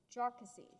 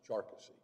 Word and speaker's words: Jarkesy: exchange commission mr mcculloch is that how you pronounce it or is it jarcussy now it's charcusey sarcasy on i apologize everyone should have their